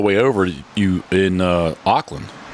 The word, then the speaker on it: Auckland: Uh on on the way over you in uh Auckland, right?